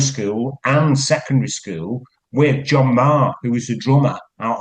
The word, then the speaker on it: Maher: But that was John Marr, spelled Maher, and Johnny Marr out of the Smiths. His name is spelt the same way, Mm. Maher. But so people in the early days didn't get him confused with John Marr out of Buzzcocks. He changed it to a phonetic spelling, Marr, because a